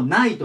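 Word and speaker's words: knight: くっつきます最初にこれでもナイトなんですこれま騎士だねそま戦うとか守るというかま西洋の騎士とかの騎士で発音全く一緒です軽が入りますけど同じくないとなのでまあねせっかくなんで音も同じだからね覚えちゃってくださいで次が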